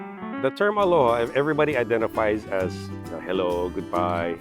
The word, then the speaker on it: aloha: So the word aloha, I pronounce aloha because it's broken into two parts, alo and your ha.